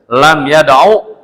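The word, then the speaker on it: لم يدعُ: Udnya pendek jangan dipanjangin. Kalau dipanjangin salah lam yadu gitu.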